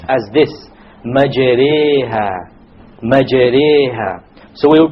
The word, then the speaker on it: مَجْرِيهَا: If you were to not know what an imala is, you would say majraha, but that's a mistake. You have to pronounce it with an imala. An imala is pronounced as this, majreha, majreha.